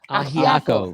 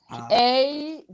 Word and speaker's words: Ajiaco: Ajiaco. It's AJIACO.